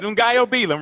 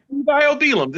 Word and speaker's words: Ngaio Bealum: You can't pronounce my name, huh? No, I got it. Ngaio. Ngaio. I got it. Ngaio Bealum, right? Ngaio Bealum.